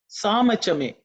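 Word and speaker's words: साम च मे: Samachame. Samachame, samachame, samachame. It should be simple. There are no aspirated sounds.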